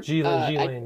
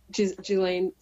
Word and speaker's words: Ghislaine: Ghislaine, yes. Ghislaine. S is silent.